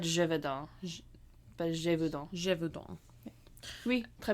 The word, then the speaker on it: Gévaudan: In French, it is said as Gévaudan.